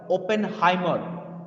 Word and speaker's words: Oppenheimer: you are absolutely right but you didn't pronounce the name right his name was robert oppenheimer his name was robert